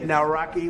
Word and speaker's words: Nawrocki: It's a great pleasure to have President Nawrocki with us, Poland.